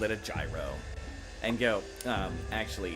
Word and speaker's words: gyro: Find out some years later that it's really up to the fact that uh in Greek it is properly called a hero.